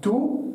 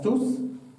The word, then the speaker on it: tous: vor einem Namen kommt, dann spricht man das als tu aus und nicht als tous.